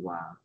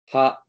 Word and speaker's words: は: It can be pronounced as ha and wa, both ha and wa. Right. But how to pronounce it depends on context.